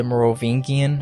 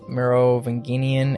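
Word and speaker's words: Merovingian: russells van dyne um the morovingian i'm so sorry i've pronounced his last two wrong merovinginian and the reynolds um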